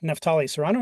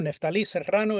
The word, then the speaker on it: Neftali Serrano: My name is Neftali Serrano or Neftali Serrano, if you can roll your Rs.